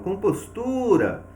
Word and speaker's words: compostura: Então, quando eu falo compostura, eu vou perceber que o tu recebeu uma intensidade maior, tá?